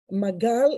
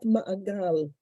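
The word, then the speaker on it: מגל: Magal is not ma'agal.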